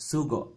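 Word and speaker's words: sógò: cool right so go now remember the the acute accent makes this stress go on that first syllable with that first vowel well that grave accent makes the last vowel hold the glottal stop right so sooo go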